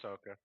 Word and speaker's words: Ahsoka: he's pronouncing that wrong I don't know it's Ahsoka he's pronounce it right Paulie trust me I'm not